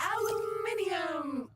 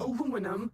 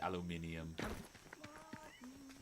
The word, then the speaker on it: aluminium: Aluminium. Aluminum. Aluminum as Americans pronounce it incorrectly. No, it's correct. You're wrong. It doesn't make it any less useful. People say it wrong. Say aluminium.